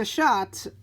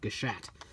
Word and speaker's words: Gashat: gear duel just because I felt somewhat validated in the way that I've been pronouncing gashat for several several several of my XA videos instead of gashat so we are here